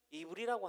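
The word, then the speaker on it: עברי: 히브리어로 히브리는 이브리라고 합니다. 이브리라고 읽는 게 맞네요.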